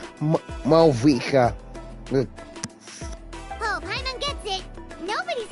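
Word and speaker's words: Mavuika: Seriously, I had a hard time trying to pronounce it until I've actually heard it from the trailer video. Malvika.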